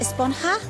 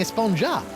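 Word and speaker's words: Esponja: was it about actually it's pronounced espanha with an h sound at the end really but we've all been saying a sponge up yes i know it's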